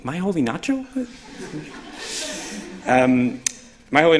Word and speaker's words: Moholy-Nagy: telephone paging biting because Americans say my holy or moholy-nagy chicken you're like all these really badly pronounced Hungarian and Bernard was areas like what you just say my holy my holy not true my way not